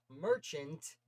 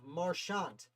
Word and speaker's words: Marchant: It's not Merchant. This one of the vowels is a little different vowel.